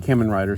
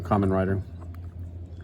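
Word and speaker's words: Kamen Rider: of or common rider however you want to pronounce it I know they pronounce it two different ways so the the '90s was CH Rider I think and then they flipped it to Common Rider when they made the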